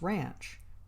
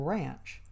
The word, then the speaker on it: ranch: store and post office I made a mistake in pronunciation which had to be corrected I referred to the ranch and was told that hereabouts the pronunciation is ranch the a as in and a ranch is maintained